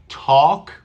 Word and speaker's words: talk: talks to birds I talk listen do you hear an l do you hear an l I talk I talk there is no l in the pronunciation that would be talk talk no we don't